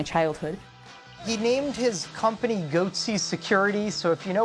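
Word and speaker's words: Goatse: and they're getting the goatsy picture they're called goatsy security is that my pronouncing that correctly yeah that's right we're analyzing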